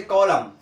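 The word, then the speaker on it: column: जैसे देखिए एम एन, तो ऑटम बोलते हैं, ऑटम ना कि ऑटमन, ऑटमन नहीं बोलते हैं, ऑटम, एन साइलेंट हो। जैसे कॉलम, देखिए कॉलम, कॉलमन नहीं बोलते हैं, कॉलम, एन साइलेंट।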